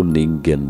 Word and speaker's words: Ningen: Antartika Oleh karena itu orang-orang menamakannya Ning M atau negen menurut pengucapan Bahasa Jepang atau disebut juga manusia